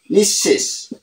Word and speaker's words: নিঃশেষ: ব্যঞ্জনটি দুবার উচ্চারিত হয় পদের মধ্যে বিসর্গ থাকলে বিসর্গ পরবর্তী ব্যঞ্জন বর্ণটি দুবার উচ্চারিত হয় তো এখানে বিসর্গ পরবর্তী ব্যঞ্জনটি আছে ক তাহলে এর উচ্চারণ হবে কি অতঃপ পর অতঃপর অতঃপর দুবার উচ্চারিত হইছে তাহলে এখানে কি হবে নিশ শেষ নিঃশেষ তাহলে এখানে নিঃসন্তান নিশ সন্তান নিঃসন্তান দুবার উচ্চারিত হবে তাহলে এখানে অন্তসা